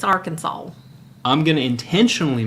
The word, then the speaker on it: Arkansas: Kansas get over yourself Arkansas our Kansas Arkansas no you gotta put I'm going to intentionally just mispronounce it now you gotta put a little twang in there it's Arkansas I'm gonna intentionally mispronounce